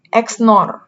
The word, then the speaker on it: XNOR: Jadi kita bacanya dari SNOR, XNOR, bukan SOR B gitu.